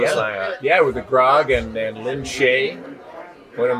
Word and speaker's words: Grog: We got to see you with the Gronk. Yes, the Grog. Grog or Gronk? Grog. Did I say it wrong? Grog. G-R-O-G. Yeah. Grog.